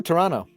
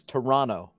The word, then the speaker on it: Toronto: no you'll thank me when together is Toronto you just don't say the second t ah dude Slovakia how